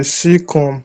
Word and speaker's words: cecum: Cecum is pronounced Okay, cecum.